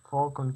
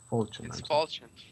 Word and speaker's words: Falchion: Falcon case. It's Falchion.